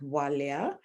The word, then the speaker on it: Bwalya: do work with kids my name is pronounced walia so the bee is always silent but not quite silent wow yeah okay